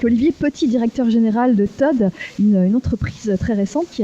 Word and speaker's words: TOD: Voilà, on prononce bien Todd, on n'est pas Oui. TOD. On prononce Todd, effectivement. Voilà, donc vous révolutionnez, enfin en tout cas vous voulez révolutionner le recrutement.